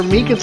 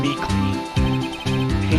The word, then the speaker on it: Meekins: Actually, Officer Meekins at the detention center told us. That poor little dummy. Poor guy. I keep getting his name wrong, calling him Meekly.